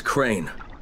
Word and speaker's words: Crane: the video store no my name's crane crane crane rhymes with train and brain and sane and grain and rain and plane and the other kind of plane and can i come